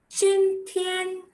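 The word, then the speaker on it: 今天: Chin Tian, J is cho, cha cha jo cho. Chin Tian, that means today.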